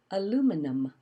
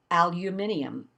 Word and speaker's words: aluminum: drive me crazy because people would add a whole syllable to the word aluminum. They call it aluminium, like condominium. Aluminium. I was like, aluminium? I'm like, this is a 4-syllable word. Aluminum. And you put a fifth one in there.